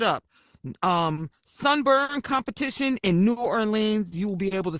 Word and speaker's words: New Orleans: You know, it's not New Orleans. New Orleans. I'm I'm a I'm a New Yorker, so I I enunciate. Okay. I I I pronounce synt and and and and I pronounce all the letters that are actually in words.